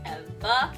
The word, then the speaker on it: Eva: It's supposed to be a play on words because we don't pronounce our R's here in New England. So it's Evah with an AH.